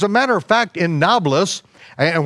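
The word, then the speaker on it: Nablus: matter of fact in novelis and why it's called novelist is because the the arabs can't uh pronounce a pea it's it was neapolis neopolis or new city or the ancient city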